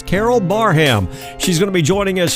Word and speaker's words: Barham: welcome to the cafe welcoming special guest carol barham and i was told that's how we pronounce her last name i have been pronouncing it wrong all this time so carol i do apologize it's carol barham she's gonna be joining us here at 12